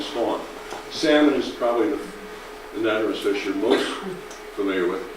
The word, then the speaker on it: anadromous: Could you pronounce the fish and what kind of fish are they? Yes, say it again. Anadromous.